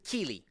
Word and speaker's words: kili: How was the fruit pronounced like? That's kili.